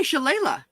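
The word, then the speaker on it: shillelagh: see how we pronounce it okay um pronunciation i like it okay shalala hey prilly we'll probably welcome in so cool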